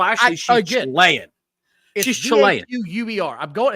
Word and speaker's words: Vaquer: I can't say mispronouncing Spanish name. Well, actually, she's Chilean. She's Chilean. V-A-Q-U-E-R.